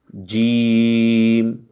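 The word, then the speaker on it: ج: এটা আমরা মনে রাখবো জিম জিম জিম জিমটা একটু শক্ত করে উচ্চারিত হবে একটু শক্ত করে জিমের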